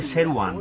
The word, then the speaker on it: Σερουάν: Νομίζω είναι Σερουάν. Δεν προφέρετε το W. Σερουάν.